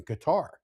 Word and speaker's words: Qatar: It's Qatar.